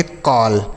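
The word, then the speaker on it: call: कॉल।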